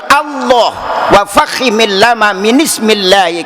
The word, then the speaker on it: Allah: Wa fakhimil lama min ismillahi, apabila ada lam jalalah menyandang harkat fathah, maka dibaca tebal. Tidak boleh Allah, tidak boleh Allah, harusnya dibaca tebal Allah.